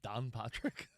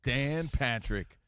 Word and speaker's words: Dan Patrick: Did you say Don Patrick? Don Patrick. Don Patrick. That's not how you say it? Don Patrick. Dan Patrick, the boy. legend.